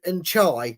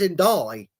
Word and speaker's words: Ndidi: Why are they calling him N'Chai? There's no C or H in his name. It's Ndai.